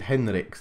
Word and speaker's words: Heinrichs: Heinrichs is Henrichs, though.